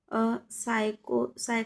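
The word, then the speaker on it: psi: साई equals to साई का जो P है ना वो साइलेंट होता है, सो it represent wave motion, okay.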